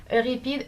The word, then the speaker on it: Euripides: Okay, you'll have to deal with the French pronunciation. Euripides, and I did mostly enjoy Les Caprices de Marianne d'Alfred de Musset.